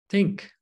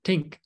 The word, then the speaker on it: think: The TH is the hardest one, according to the study, because when you see the TH, like in think, most people pronounce this as tick, think, right? Tink.